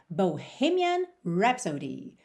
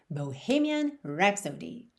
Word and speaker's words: Bohemian Rhapsody: E atenção à pronúncia aí dessa rapsódia boêmia, Bohemian Rhapsody. Bohemian Rhapsody.